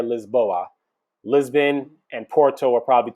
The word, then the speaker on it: Lisboa: want to hit up or as they pronounce it out there lisboa lisbon and porto are